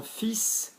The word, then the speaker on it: fils: Mon fils, notice we're pronouncing the S.